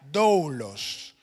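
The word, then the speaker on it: δοῦλος: Y en el antiguo griego el término se pronuncia doulos.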